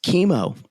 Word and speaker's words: Kimo: The only queer one is Chemo. And that's an unfortunate name for a brother who had cancer. That's too sad. Wow. It's spelled Kimo, but I said it out loud and I realized, oh, okay.